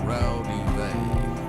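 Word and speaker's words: Raudive: And the most complete source book is a book called Breakthrough by Constantine Rowdy. That's actually pronounced Rowdy Vay. It's Latvian.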